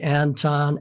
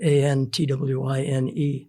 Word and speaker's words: Antoine: his name was Antoine people say Anton Antoine but my grandpa called him Antoine and if Grandpa called The Man twine that's it and then I see on Old senses the um phonetically put it a n t w i n e so it's antwine definitely and was it a